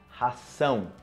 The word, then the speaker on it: ração: E o outro, comida para cachorro, ração, ok? Ração, sa, z, sa. O primeiro, ok? Uma abelha, ok? Zão, razão. E o outro, ração.